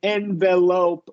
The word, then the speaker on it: envelope: saying you can and an envelope wasn't incorrect although I do prefer the schah there envelope envelope envelope yeah correct